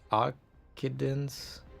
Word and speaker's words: Occidens: If you want to be totally correct, the name of the castrum is pronounced Occidens, depending on the Latin pronounce you want to use.